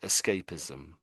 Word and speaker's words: escapism: So we say escape ism. That's how it's pronounced. Escapeism. That's how it said. Do you want to give that a go? So it's escapism. Escapism.